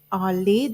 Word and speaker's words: Allez: Allez, this is French.